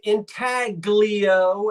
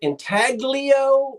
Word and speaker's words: intaglio: I know how to pronounce the word. I am not Italian. And if the Antiques Roadshow people say intaglio and not with the soft G, that's good enough for me. But yeah, you can pronounce it intaglio or the silent G, however you'd like to pronounce it.